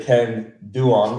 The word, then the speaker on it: Ken Duong: the biggest real estate agent in Vietnam Mr Ken dong am I pronouncing that right uh yes yes Ken dang yeah very much Ken dong yeah you look